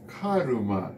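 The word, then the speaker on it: カルマ: But it's Karuma in Japanese. So, which is based more of the pronunciation that do pronounce the R, like Irish or American, yeah, yeah.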